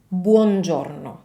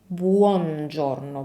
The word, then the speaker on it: buongiorno: What Brad Pitt is doing instead is that he's skipping the U altogether. He doesn't say buongiorno, buongiorno. He just says buongiorno, and then he mumbles his way through the rest of the word.